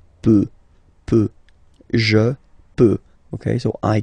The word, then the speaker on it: peut: Je peux, tu peut. Then, il, elle, peut. So you will put T at the end, you don't pronounce it.